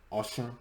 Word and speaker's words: Oshun: Oshun, Nigerians is pronounced Oshun. Oshun, excuse me, I'm butchering it.